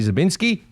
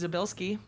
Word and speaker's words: Zabilski: I'm here with Kelly Zabinski. One of these days you'll get that right. Well, how am I saying it wrong? You're adding an N. It's Zabilski. Zabilski.